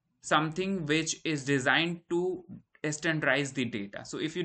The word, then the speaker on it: STDIZE: All right, so to achieve this, there is one procedure which is called proc standardize. So this is spelled as STDIZE, but this is something which stands for standardize, right?